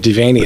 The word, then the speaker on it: Devaney: I've been pronouncing it Devaney. You pronouncing it right.